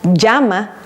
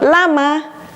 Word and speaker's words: llama: J makes the sound J, like llama, not llama.